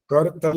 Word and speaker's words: करतल: कर तल कर पृष्ठ कर तल नहीं करतल पूरा बोलना होता है ल पूरा है र भी पूरा है करतल कर पृष्ठ और